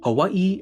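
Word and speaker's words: Hawaiʻi: Some native Hawaiian speakers today will insist that you call the place Hawaii and that the W is supposed to have a V sound.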